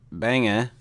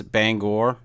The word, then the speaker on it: Bangor: you're from Maine it's Banga Banga but you can close if you want to say it like it's supposed to be said I guess it's Bangor Oh Bangor I'll just